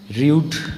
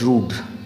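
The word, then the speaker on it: rued: Next, rude, R-U-E-D, rude is the third form of the verb rue, R-U-E. Or you can pronounce it as rude.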